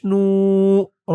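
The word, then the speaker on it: نور: বাইয়াজেরি ওয়াফি বাসরি ওয়াফি বাসরি নুন ওয়াও পেশ নর আলিফ জবর র নূ ওয়াফি বাসরি নূর ওয়াফি বাসরি নূ আল্লাহুম্মাজলফি কলবিন ওয়াফিলিসানি ওয়াফি সামন ওফিবাসন দোয়াটি এই পর্যন্তই।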